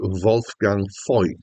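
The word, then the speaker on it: Wolfgang Voigt: Wolf Gang void or possibly more accurately pronounced wul gang F uh is a ger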